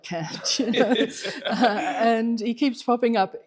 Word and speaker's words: Kant: And then, so Kant, he wants, Kant, Kant, you're right, you've got the right pronunciation.